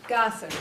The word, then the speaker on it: Gossett: Gossip. Gossett, okay, just like it's spelled, okay, thank you.